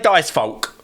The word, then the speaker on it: Dicefolk: And I've now just found out that folk is one of them as well. Folk. But anyway, I've been playing Dicefolk. Folk, whatever it is, right?